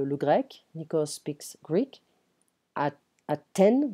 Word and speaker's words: Athènes: Athènes, we don't pronounce the TH in French, it's a T sound.